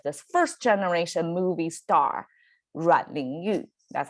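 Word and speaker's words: 阮玲玉: the suicides of this first generation movie star rotten you that's how to say her name she of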